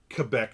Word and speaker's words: Quebec: See, I pronounce it right. My friend grew up in Quebec, not Quebec, Quebec.